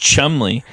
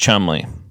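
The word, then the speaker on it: Cholmondeley: Martian of CH delay oh it's pronounced Chumley but it's spelled CH chonday but it's pronounced Chumley anyway so there's that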